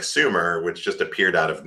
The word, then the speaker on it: Sumer: You know, like, oh, here's, or if you want to say it how they say it, they would have said it would have been Schumer, but so like Sumer appears out of nowhere.